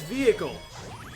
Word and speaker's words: vehicle: my worry fair enough the word is vehicle the H is silent first of all shut